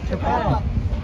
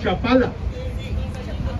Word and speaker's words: Chapala: Chapala. Chapala. Yeah, we make a really strong pronunciation on the letter A, which for us it sounds like, oh.